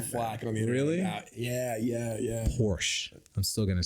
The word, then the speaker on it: Porsche: So, if you were to have a Porsche I think Porsche's the best super car.